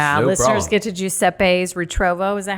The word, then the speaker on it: Giuseppe's Ritrovo: Listeners get to Jeppes Retrovo.